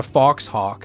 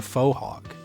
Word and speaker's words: fauxhawk: It's not called a foxhawk. It's called a fauxhawk, but it's like spelled the same way.